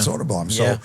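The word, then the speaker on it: Söderblom: And I I told the guys in Chicago, it's soda. It's soda bomb.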